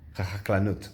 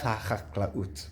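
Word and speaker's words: החקלאות: I can't pronounce it. HaChaklanut. I think it's HaChaklaut. Yeah, Misrad HaChaklaut, which is the Ministry of Agriculture. HaChaklaut. It's not an easy word to pronounce.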